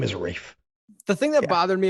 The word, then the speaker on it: Ralph: a character but he calls him ralph let's pronounce his name ralph which i know that's how it's spelled but the name is reef the thing that bothered me about this was